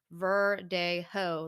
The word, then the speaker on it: verdejo: yes and it is verdejo yes spelled v-e-r-d-e-j-o but obviously the j is silent so it's like verde ho like ho ho ho like santa claus um but yeah it's